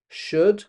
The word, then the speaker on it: should: Now, don't forget, this word has a silent L in it. Could. We don't say the L. Could. Say after me. Could. And this applies equally It's the same for should and would.